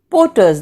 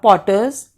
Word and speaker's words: porters: pullers hawkers and coolies porters they call them in english not potters porters for not so pronounce the word properly so certain things which